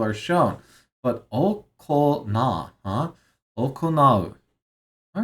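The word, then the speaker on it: 行う: I don't know if I've seen it pronounced that way before. Okonattemasu. Nattemasu. Okonattemasu. So, here, I'll write it. Here. Okay. Okonau.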